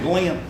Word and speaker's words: Glenn: he said glenn because back home my name's two syllables go in i didn't know it was a one syllable word until i got to california at age 18. but he said glenn i have i have